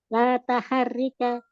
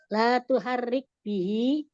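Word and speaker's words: لا تحرك به: La taharika Tuh. Nah itu tuh. Kalau bacanya harus betul, masa tak?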